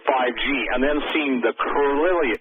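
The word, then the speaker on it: Kirlian: Lake, seeing what you proposed with 5G and then seeing the Carillion, I'll pronounce it, Carillion, K-I-R-I-L-I-A-N photography, did it ring some bells instantly to you?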